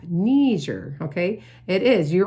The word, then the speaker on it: Niger: Because originally it was a French region, and so they don't pronounce it like Nigeria, like Niger. It's pronounced like a knee. Think of your kneecap. Niger, okay?